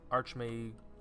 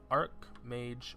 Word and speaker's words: Archmage: quest complete pain for arch may arc mage or Archmage however you want to pronounce it to vash and